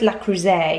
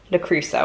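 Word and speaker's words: Le Creuset: i remember us giggling it i'm sure it's la croise you're actually supposed to pronounce it but la cruzo i think is what most people say um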